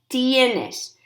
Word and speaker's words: tienes: ok tener tengo tienes notice how you pronounce it the I and the ER both pronounced tienes tiene tenemos tienen okay